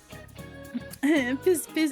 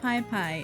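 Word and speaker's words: Pispis: Piss piss is pronounced pie pie.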